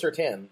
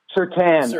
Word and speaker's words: Surtain: I thought it was Surtain, Patrick Surtain. That's what I thought. But Sertan. Oh, that's right. It is more. I thought it was certain, but you're right. It is Sertan.